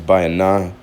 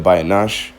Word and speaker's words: Bayanah: So, the reason why I'm saying my name is Bayanah instead of Bayanash is because there was a mix-up with the Hebrew. Bayanash isn't the word for to seek understanding. It's Bayanah.